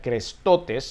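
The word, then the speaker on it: χρηστότης: por supuesto viene de un vocablo griego que se pronuncia krestotes y significa amabilidad.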